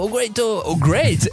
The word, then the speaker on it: Oh! great: est donc Ito ogure si on inverse ça donne ogure si on le dit vite si on le prononce avec style on fait ogureito ogo great e et voilà non mais